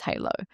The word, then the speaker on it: Haleau: the beginning and create a word which is halo and I knew that it would require a level of education so that people knew how to pronounce it correctly.